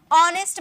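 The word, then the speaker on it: honest: का ठीक है नेक्स्ट ऑनेस्ट मैन नेस्ट नहीं बोलते हैं लिखा हुआ एच ना नेस्ट नहीं बोलेंगे एच साइलेंट यहां भी एच साइलेंट होता है अब ऐसा नहीं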